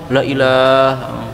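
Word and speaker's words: لا إله: Saya juga pernah dengar Ustaz begini. Asyhadu alla ilaha la yang pertama pendek. Yang artinya itu kan la tidak ya. Asyhadu alla ilaha, harusnya la-nya langsung disambung gitu. Langsung sambung. La ilaha.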